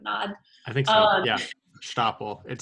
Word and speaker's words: Stapel: Yeah, Stapel. It sounds fun to pronounce.